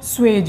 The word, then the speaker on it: Scheutz: George स्वेज। हाँ जी George स्वेज। स्वेज की spelling SCHEUTZ।